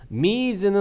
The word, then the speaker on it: Ms: 여러분 MS는요 미즈라고 읽는 겁니다. 이거 같은 경우는 아시겠죠? 미스가 아닙니다. 미스는 당연히 MISS가 되겠죠. 미즈는 어떤 뜻이냐면요, 이 여성의 이제 그 기혼 정보, 다시 말하면 이제 결혼을 한 사람인지 아닌지를 잘 몰랐을 때 그냥 여성이다라고 하는 표현이라는 얘기입니다. 그래서 이건 미스가 아니라 미즈라고 읽으셔야 됩니다.